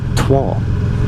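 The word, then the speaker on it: Troyes: uh yeah that's how I pronounce it t-r-o-y-e-s trois so yeah with a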